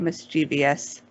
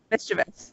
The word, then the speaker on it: mischievous: the biggest one is mispronouncing mischievous people who say it miss gb/s because it's spelled it goes comes from mischief miss yeah mischievous that's it yeah absolutely